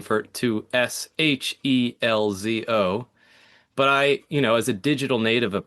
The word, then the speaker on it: Scelzo: That's actually my entire life, you know, my family and friends have always used the Italian pronunciation, which is Shelzo.